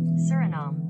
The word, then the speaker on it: Suriname: right suram pronunciation from the experts at the pronunciator suram suram surom Sur suram not not sh name